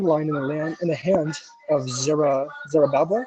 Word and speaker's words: Zerubbabel: For these 7 rejoice to see the plumb line in the hand of Zerubbabel. Is that how you say it? Zerubbabel? You're reading the key verse? Yes, the key verse. Yeah, that's Zerubbabel.